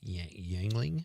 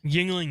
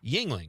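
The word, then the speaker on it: Yuengling: Yangling. Yingling. Yeah, Yingling.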